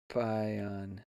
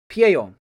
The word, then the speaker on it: Pieyon: Pion. Yeah, no, it's where you're supposed to do it the Japanese way. Pieyon.